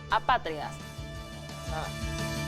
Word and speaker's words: apátridas: No, apátridas. Es drújula. Lleva la sílaba en la antepenúltima sílaba.